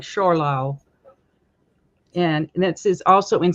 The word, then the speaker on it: Zschorlau: and forgive my pronunciation, I'll spell it Zschorlau. So it's kind of like Schorlau.